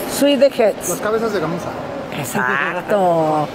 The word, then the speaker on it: Suedeheads: Se pronuncia Swedeheads. Swedeheads. Swedeheads.